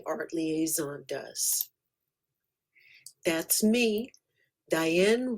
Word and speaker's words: Diane: That's me, Diane Rhymes with Cayenne.